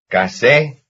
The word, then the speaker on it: casé: Casé. Casé. Casé, that's the second syllable.